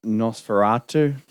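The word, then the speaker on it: Nosferatu: um honorable mention uh NOS feratu um oh is that oh I was like is that pronunciation um that's correct yeah that's correct I keep wan to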